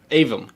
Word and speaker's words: Aevum: just heard the band was called Avum. Avum. How do you spell that?